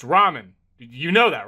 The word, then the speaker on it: ramen: Door Dash is on its way to deliver some Raymen, and I don't want to spill any around the pyramid floors. Uh, it it's pronounced ramen.